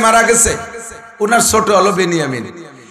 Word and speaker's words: বিনিয়ামিন: 2 ভাই, ইউসুফ আর বিনিয়ামিন। বনিয়ামিন না, একটু উচ্চারণ শেখেন, বিনিয়ামিন শব্দটা কি গন্ত? বিনিয়ামিন। আর বনিয়ামিন কেউ নাম রাখলে বনিয়ামিন বললে বিনিয়ামিন। বিনিয়ামিন 2 ভাই, আর ওনার সৎ ভাই 10 জন, মোট 12 ভাই।